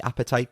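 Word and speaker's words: apatite: been carrying around the appetite Crystal um Palm stone that I have no appetite's really good for suppressing your appetite ironically it's spelled differently appetite it's a-p-a-t-i-t-e um but it's really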